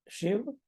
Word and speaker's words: शिव: शिव, श भी छोटा है, श पर छोटे ही की मात्रा है।